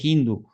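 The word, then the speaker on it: hindú: Es que realmente se dice hindu, no hindo, es una mala pronuncia, así lo traduce.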